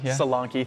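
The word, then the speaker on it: Solanke: out on top I'm going to say the name wrong here Salan Sal salanki thank you uh got Premier League team of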